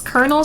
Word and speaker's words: Colonel: It's Colonel spelled like corn kernel.